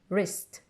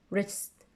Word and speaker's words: wrist: we don't pronounce it whenever you have R after W you don't pronounce W wrist wrist okay you have to